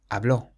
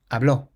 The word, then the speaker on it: habló: The next word has an accent on the O, so we say habló, habló.